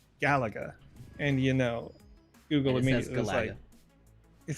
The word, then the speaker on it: Galaga: it I think it's supposed to be said the way that you said it and the way that I said it is the result of me not growing up around video games so nobody was saying it and I just read it and that's that's the way that it got stuck in my head so if I if I think about it I would probably say Galaga uh but then just